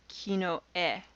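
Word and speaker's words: きのえ: an ordinal system then you would refer to it as kino e and then there's kinoto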